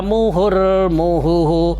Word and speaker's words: मुहुर्मुहुः: हनुमांश्चिन्तयामास विनिश्वस्य मुहुर्मुहुः विनिश्वस्य मुहुर्मुहुः। दो हा आएंगे क्योंकि एक तो हु ऑलरेडी है और एक विसर्ग का आएगा।